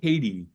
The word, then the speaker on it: KT: yeah, Katie. It's spelled different, but it's KT.